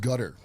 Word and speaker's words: Qatar: It's pronounced gutter. a gutter? It is, yeah. Yeah, Cutter. I thought it was cutter. No, it's gut.